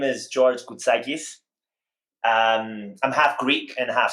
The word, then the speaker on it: Koutsakis: other interviews because so I had a teacher in middle school who had the exact same name, but it's pronounced very differently. Okay. Hers was Koutsakis, and I know that's not how you say yours. Koutsakis. Yeah, yeah. So it was a little different.